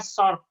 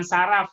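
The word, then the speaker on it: صرف: jual beli mata uang bacanya short short ya bukan syaraf nanti saya Ratna dia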